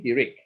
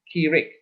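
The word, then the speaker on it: hiriq: this h-i-r-i-q okay and i emphasize at the eye here so it's easy for you to remember he rick okay he read okay some some books will spell it as kirik okay so don't worry about it okay just know it is eric or kirik right right so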